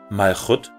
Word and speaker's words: Malchut: ausgesprochene Konsonanten verwendet werden, werden diese hebräischen Begriffe wirklich Malchut und Gevurah ausgesprochen und sollten daher auch mit den entsprechenden Buchstaben des lateinischen Alphabets korrekt transkribiert werden. Das Bet, also B, wird zum W und das Kaf, also K, wird zum Ch.